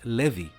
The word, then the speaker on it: Levi: The name Levi is a Jewish name that is actually pronounced Levi, just like the clothes company Levi's is called like that while her creator was named Levi Strauss.